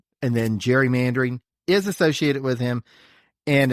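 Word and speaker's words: gerrymandering: spelled g r y all right and then Jerry mandering is associated with him and it's pronounced Jerry mandering just to make things confusing because that's the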